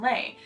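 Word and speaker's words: lai: and it is lay spelled l a i but pronounced lay like lay down and it refers to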